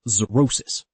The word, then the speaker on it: xerosis: Finally, if an x is the first letter of a word, it is pronounced like z. For example, xerosis.